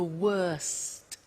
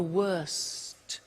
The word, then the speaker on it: worst: the superlative is the worst notice the T bad worse the worst don't forget to pronounce the T and then far the